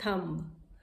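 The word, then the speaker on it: thumb: उसके बाद हम कहते हैं थंब. थंब, अपना थंब दिखाते हैं जब कहते हैं थंब है. इट इज़ नॉट थंब, इट इज़ थंब. थंब, B silent है इसमें, इट इज़ थंब.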